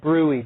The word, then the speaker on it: bruit: Does not look like brewy, does it? You do not pronounce the T. So think brewery and leave out the and then you'll say it right.